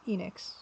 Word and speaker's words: Enix: By the way, Kurago Yukai by Enix 1986 because apparently that's how you're supposed to pronounce Enix.